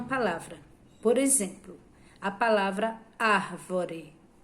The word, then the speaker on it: árvore: por exemplo a palavra árvore e Você lê devagar você vai ver que e a árvore a sílaba mais forte a que você fala com mais força é a sílaba ar a árvore então a